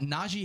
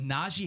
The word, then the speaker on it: Najee: He gets very irritated if you say Najee, which is, you hear a lot. Naji, yeah. Najee. It's an E, yeah, say it how it's spelled.